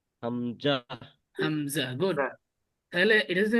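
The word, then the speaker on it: همزة: Hamza, Hamza. Good. তাহলে এটা যদি আমি ইংরেজিতে লিখি, এটা হবে না? জি হামজা হ্যাঁ, হামজা। ঠিক আছে, এটাই হবে হামজা, হামজা। তাহলে এই হামজাটাও আলিফের মতো তাড়াতাড়ি পড়তে হয়।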